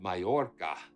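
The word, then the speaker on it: Mallorca: So, um, it's so good to see you from the beautiful island of Mayora. That's that's extraordinary. Did I pronounce it correctly?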